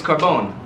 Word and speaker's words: Carbone: So if y'all didn't know, in any Italian language, you'll see anyone's like, my grandma's last name is Carbone, but we pronounce it Carboni, like Corleone, right?